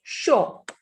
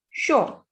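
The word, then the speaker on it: chaud: So this will be show. Show. D is the last consonant, and when D is at the end, we don't pronounce it. So D will be silent here.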